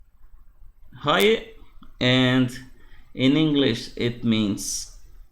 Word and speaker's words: Roque: First, I mispronounced roque. So this word here is roque, and in English it